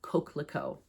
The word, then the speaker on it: Coquelicot: So, Coquelicot is how you pronounce it. It's French.